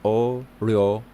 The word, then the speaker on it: 어려워요: The word difficult in Korean is literally difficult to say. It's pronounced 어려워요.